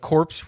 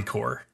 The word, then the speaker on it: Corps: week which is against corpse rules core rules like Army core core sorry wait they stuck on corpse don't they know they calm cool the P is silent it's a weird French thing I think it's a